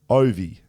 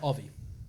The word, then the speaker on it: Ovi: can Ovechkin sure and OVI is pronounced OVI there you go not Avi okay okay fellas it's